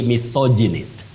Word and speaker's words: misogynist: That is the way to pronounce that word, Betty. You say misogynist.